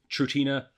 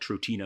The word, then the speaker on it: Trutina: Latin translation of what Trutina means with an accent, a straight accent on the A.